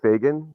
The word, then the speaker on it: Fagan: your last name uh it's Fagan f a g an so just like it's spelled I just make sure